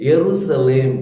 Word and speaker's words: यरूशलेम: बदले वाई इसी तरह जेरूसलम जे शब्द यूज किया होगा लेकिन उसको प्रोनाउंस करने के समय यरूशलेम करके बोलना यरला करके बोलते है सो ज नहीं होना वहा पर वाई होना चाहिए सो इस तर बहुत